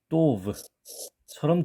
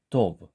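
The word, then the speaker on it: טוב: 우리말로 강한 경음으로 내면 또브, 또브 이렇게 되죠. 그런데 약간 티읕처럼 발음하려고 하는 쌍디귿은 도브, 도브, 도브 요 정도 되지 않을까 생각이 됩니다.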